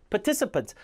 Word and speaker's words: participants: participants. 요렇게 발음을 정확하게 하는 법을 자꾸 알려드리고 수없이 반복하게 도와드릴 겁니다.